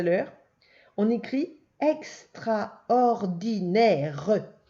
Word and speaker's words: extraordinaire: Attention, c'est le E de mer, le O de moto. Et le deuxième E, le E de la fin, c'est le E de maison. Et il y a un E muet.